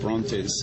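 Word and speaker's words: Brontë: contemporary imacy infus a contemporary immediacy into Charlotte brontes am I pronouncing that correctly brontes yeah brontes Timeless classic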